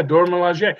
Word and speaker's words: Dora Milaje: I'm like, oh, I finally get to learn how to pronounce Dora Milaje. Yeah, Dora Milaje.